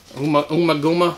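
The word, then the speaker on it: Ummagumma: Umaguma. That's how we pronounce it.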